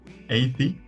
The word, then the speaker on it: Eyði: pronunciations of your name 80 80 no um in in Fairways uh the the D with the line true it's uh usually not it doesn't usually have a sound at all so it's a